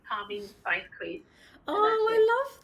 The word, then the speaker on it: Parveen: It's Parveen Spice Queen. Oh, I love that. My mouse mat. And my name is Parveen, and it's brilliant because it rhymes with Spice Queen.